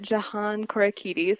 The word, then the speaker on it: Jahan Korakides: I'm pronouncing this correctly, Jahan Korakides? Is that right? I say it Jahan Korakides, so you are very close.